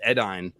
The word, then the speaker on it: Edain: Dawn, just like the Edain. It looks like Dane. It's Edai or Ain. It's pronounced Edain, but it looks like Dane.